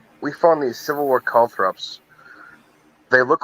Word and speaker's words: caltrops: Caltrops, not calthrops.